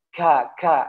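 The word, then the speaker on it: ك: Jadi biasanya ya tidak boleh kita terlalu banyak mengucapkan hames ya. Ka, nggak boleh. Tak cukup taruh di makhrajnya saja, ke depan, ke tulangnya. Ka, gitu ya. Tidak boleh ka, kaknya kita beda dengan kaknya ya lisan Arab ya. Tidak boleh ya ka, nggak boleh, harus ka ya, taruh ka gitu ya. Ko, ka, ko, ka gitu ya.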